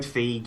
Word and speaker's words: Feige: You're allowed Feige, you're allowed Feige, you're allowed either.